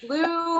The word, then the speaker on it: Loo: And I was placed in a chicken factory village called Lo, which looks like Lou, which looks like Lou, like a toilet, but L-O-O, but it's pronounced Lo.